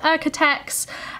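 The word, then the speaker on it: OEKO-TEX: it all but um in the uk we pronounce it architects and what's commonly found in the fabric shops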